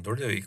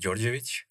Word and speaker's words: Dordevic: yeah my name is durdewick or actually it's pronounced georgiovic so yeah i'm almost